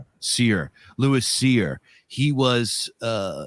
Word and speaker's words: Cyr: He was a like cyr I don't know how to pronounce that. Seir. Seir.